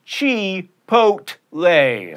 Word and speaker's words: chipotle: get guacamole or guacamole at chipotle that's right chi pot lay speaking of ease and